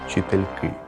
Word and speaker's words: вчительки: варіант за вчительки годинники жіночого роду у множині наголошується останній склад тому наші вчительки треш також можу додати